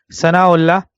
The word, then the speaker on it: Thana Allah: the Sheikh's name was like they say in Urdu Sana Allah al-kashmiri so the Sheikh's name was pronounce it in Urdu Sana Allah and his father's name